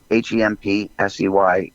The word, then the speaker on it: Hempsey: It's spelled out just the way it sounds. It's Hemp, Hempsey. Like Wavy Dave, Hemp. We won't go there, but it's Dempsey with an H, and it's Hempsey